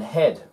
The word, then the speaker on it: head: how cool is that and head ed a head head her ed no no he had no he had head the a before or after another vowel so before the i after the o o and after the e yes head how cool is that